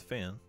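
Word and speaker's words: Fionn: fan next a fan it's spelled f-i-o-n-n and you're saying it's pronounced fin so let me teach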